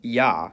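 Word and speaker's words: Я: It's called yah and as its name suggests in most cases it sounds like yah.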